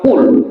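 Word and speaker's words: قل: Ahad jauh berbeda artinya kalau Qul memakai huruf qf artinya Katakanlah ya Muhammad Allah itu tidak berbilang Tapi kalau kita lepas membacanya Pak Qul huallahu Ahad seperti memakai huruf Kaf terdengar artinya Makanlah coba Tuhan kita suruh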